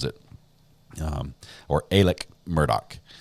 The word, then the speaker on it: Murdaugh: I believe it's Alec Murdock is how he pronounces it um or Alec Murdoch it's more like an a instead of an ah sound sort of halfway in between I can't believe he's